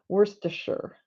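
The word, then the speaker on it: Worcestershire: figured that out now I got it Worster Shire and Shire is actually actually slurred and it becomes sure worse to sure so once I uh did the grammatically figured it all out and phonetically all figured it all out and added the British accent to it it made sense I think I got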